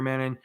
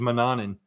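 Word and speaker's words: Mannun: right that's exactly right m-a-n-n-u-n like man none it's kind of weird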